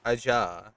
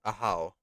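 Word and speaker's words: Ajaw: let's head inside one the pronunciation from spelling would be AA but uh correctly speaking for the language it is a how oh I've been calling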